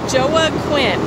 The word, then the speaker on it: Joaquin: And it's Joa Quinn.